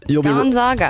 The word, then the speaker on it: Gonzaga: is an 11 seed from the Midwest, the Gonzaga Bulldogs. I don't think Allie's mentioned one team name correctly so far, which is really remarkable. I said Bulldogs, right? You got that part, but... Wow. All right. Gonzaga.